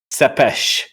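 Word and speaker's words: Țepeș: Remember, it's pronounced Sepesh.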